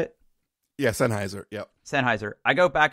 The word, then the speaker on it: Sennheiser: Sennheiser is that how you say it yeah Sennheiser yeah Sennheiser I go back and forth between